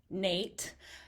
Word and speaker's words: Noethe: Yes, it's pronounced Nate. Don't ask. Kind of a interesting pronunciation that you wouldn't expect, but I am a realtor in Indianola serving the Des Moines metro area.